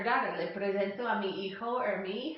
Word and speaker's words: hijo: or daughter to you, is hijo or hija, okay, that H is silent, hijo or hija, y